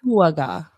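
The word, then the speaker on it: Dakuwaqa: It's the picture on the top is their shark god, and that is pronounced. It has legs. Akuaga.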